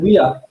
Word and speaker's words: Weir: If you were paying attention to how Tic Tac from Tyne, it's Tyne and Weir, okay, not Where, Tyne and Weir.